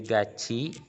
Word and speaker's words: 같이: Jadi itu dibacanya bukan gati tapi gaci kan? Harusnya.